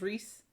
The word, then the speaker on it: Rhys: that i knew um i know his first name is reese which i recently learned how to pronounce correctly because it's rhys and i never knew how to say it um but i know